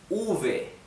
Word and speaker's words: uve: Letter V. It's called uve. Uve. Why? To distinguish it from B, okay?